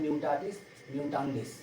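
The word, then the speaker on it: mutatis mutandis: देखिए क्या दिया है, म्यूटाटिस, प्रोनाउंसिएशन है म्यूटाटिस, म्यूटांडिस, इसका मतलब रिमेनिंग सेम डिस्पाइट चेंजेस।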